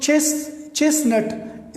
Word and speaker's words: chestnut: तो क्रिसमस में ये जो बीच में ठीक है क्रिसमस, या चेस्टनट, ये जो चेस्टनट, इसमें असल चेस्ट लिखा होता है CHESTNUT, बट इसमें ये T बीच में वाला साइलेंट है, चेस्टनट.